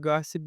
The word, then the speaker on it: gossip: And another thing about gossip, the word gossip, because we have I in the word gossip, and I is in a totally unstressed position. So we change it into a schwa. Instead of saying gossip, they say gossip.